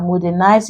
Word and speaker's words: modernize: If we follow the generalizations given, you find out that modernize is stressed on the first, educate is stressed on